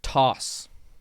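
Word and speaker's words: Tauce: band yet yeah yeah it's toss like sauce with a t ducks toss how do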